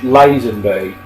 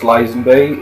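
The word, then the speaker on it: Lazenby: that starred uh George lasenby I believe it is pronounced lasenby it could be Len be I've heard it pronounced both ways um yeah really really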